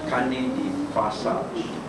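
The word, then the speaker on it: carnet de passage: But because it's French, it's pronounced as carne de passage.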